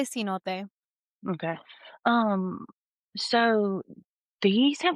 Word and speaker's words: cenote: I say cenote. Okay. Um, so these have, like, fascinated me forever. Yeah, And yeah, so I'm gonna read a little bit about them. A cenote is a natural sinkhole or pit that forms